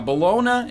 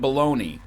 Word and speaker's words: bologna: Now, bologna and bologna, I'll give it to you, okay?